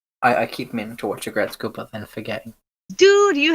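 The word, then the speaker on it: Aggretsuko: Aregretsuko. Agretzko. Aregretsuko. Agretzko. Agretzko. It's Agretzko. Agretzko. Yeah. Okay, if you want to say it like that, yes.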